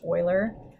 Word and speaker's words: Euler: done by leonard euler and yes this is pronounced euler i actually have a funny story about the